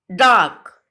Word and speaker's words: dark: Dark में बेटा R is silent. R की साउंड पूरी तरह से नहीं आती है तो इसमें क्या साइलेंट है? आ. सेम डार्कर में भी R की साउंड नहीं आ रही है.